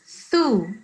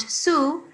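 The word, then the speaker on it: مبثوثة: So it's thu, not su. This is not seen. This is tha.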